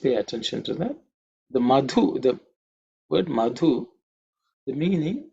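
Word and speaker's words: मधु: in terms of pronunciation the second letter in the Mantra madhu the two is from the fourth letter in the third so it has to be aspirated it's a mahaprana consonant okay um just pay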